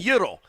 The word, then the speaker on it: gyro: I'm not saying gyro and I'm not saying euro. I'm saying yuro. That's the way it's supposed to be pronounced.